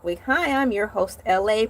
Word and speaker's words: Elay: Hi, I'm your host, Elay, pronounced like LA, like the city.